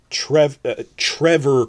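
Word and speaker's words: Trefor: Trevor Quarry, spelled with one F, that's a V sound.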